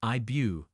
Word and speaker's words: Ive: February solo artist IES pronounced IBU from the Korean spelling with Eve as an